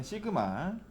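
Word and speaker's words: σ: 얘는 시그마 라고 읽어요.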